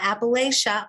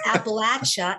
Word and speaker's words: Appalachia: It's not Appalachia, y'all. No. It's Appalachia.